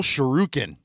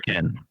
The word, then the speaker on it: shuriken: It says ability mortal shurukin. Did I I pronounced that right? Right. Because that's some Street Fighter. Shuriken.